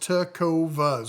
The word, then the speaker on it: Tecovas: And that's pronounced Tovas.